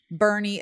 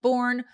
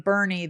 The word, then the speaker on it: Boerne: Boerne is spelled Boerne, not to be confused with born, which I did on the very last day of our trip. I actually said born to someone, and I was so